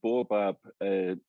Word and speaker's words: Baobab: i present pronounce it it's not a scottish word it's like it's an african uh tree so bob is an oil a